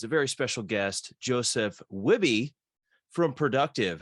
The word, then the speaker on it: Wihbey: would say but if you're a Canadian American you're just gonna say wibby so um that's that's